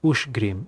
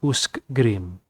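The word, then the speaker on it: Ushgrim: ush grim ah yes which green is ush green and not usgrim ok i'm sorry ingmar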